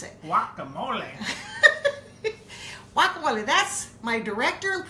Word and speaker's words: guacamole: promised we are going to make welcome olap Whatcom wooly that's how we pronounce it guacamole what Chloe that's my director producer shouting at me directing Tom ol z jr.